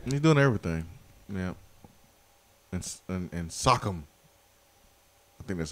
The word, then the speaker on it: Siakam: And Siakam. I think that's how you say his name. He's doing everything. Pascal Siakam. Siakam, yeah, there you go.